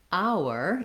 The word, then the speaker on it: hour: it so second minute our even though we have the letter h we don't make any sound for the h we just have the